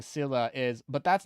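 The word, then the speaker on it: Scylla: very clear how do you go about pronouncing this one Sila Sila pretty straightforward once you know Sila here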